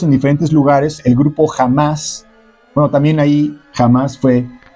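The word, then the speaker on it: Hamás: ejemplo, jamás originalmente eh se escribe con h, no jamás, así se dice.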